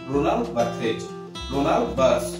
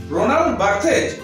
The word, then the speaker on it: Roland Barthes: তিনি হলেন ফ্রেঞ্চ, এটা French pronunciation, রোনাল্ড বার্থ in English.